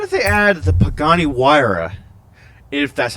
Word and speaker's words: Huayra: What if they add the Pagani Huayra, if that's how you pronounce it? You know, for the longest time, I thought that said Hyura, because I was like